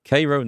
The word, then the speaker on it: Cairo: The locals call it Cairo. So, Kairo, not Cairo.